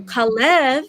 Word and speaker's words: Kalev: a little bit so kalev lev in hebrew means so that's the hebrew way to say it right i have a